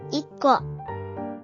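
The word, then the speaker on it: 一個: Double the initial K of Ko, making it KKO.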